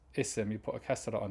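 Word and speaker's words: اسم: words isim and eben you only pronounce the alif when it's at the beginning of the sentence what do i mean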